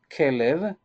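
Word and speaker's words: כלב: This is the way that we pronounce it. Kelev, that it means Kelev, as a heart.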